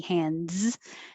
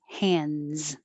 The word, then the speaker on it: hands: represent the ah so hands don't worry about making a good d hands just make it z hands and acupuncture one two